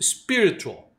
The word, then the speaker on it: spiritual: É só você mudar a tônica dela e não colocar o E do começo, spiritual.